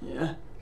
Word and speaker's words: y'all: Y'all don't yell. Leurs prononciations sont presque les mêmes. Yell, y'all.